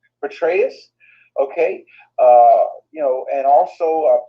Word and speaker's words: Petraeus: Petraeus, okay, you know, and also Peter Thiel, which is Trump's chief advisor.